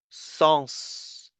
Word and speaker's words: sens: These are the exceptions where the last S is pronounced. There are a bit more than this, but the list is limited, right? So it's exhaustive, right? You can find the list online. For example, bus, tennis, Mars, ours, virus, sens. You have to pronounce the S for these words.